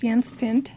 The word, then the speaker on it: Jens Pind: yans pin it's spelled Jens pend but it's pronounced yans pin and uh we're going to learn how to